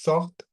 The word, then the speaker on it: sortent: তাহলে আপনার উচ্চারণটা আসবে টি পর্যন্ত। Ils sortent, elles sortent.